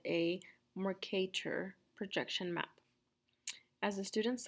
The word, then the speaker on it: Mercator: mercator projection map so that's pronounced mercator kind of like you have an english accent mercator okay so i'm starting